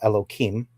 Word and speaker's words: Elohim: So the first term that you used, and I'm going to break up the word. It's Elo and then Him, which I will call Elohim.